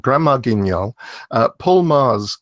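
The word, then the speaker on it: Magrs: called grandma genielle Paul Mars confusingly is spelt ma g r s it's Irish yeah I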